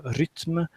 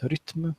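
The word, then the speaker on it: Rytm: I got the analog Rhythm and now or rythm as it's pronounced rythm in Swedish uh and now I got talk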